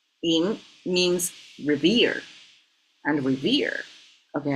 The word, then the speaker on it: 寅: Well, this is yin, and it pronounces yin means revere.